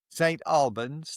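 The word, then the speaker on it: St. Albans: Albins's and your business St. Albins. Thank you very much. You've more than once you've corrected my pronunciation, so it's appropriate that you do that today.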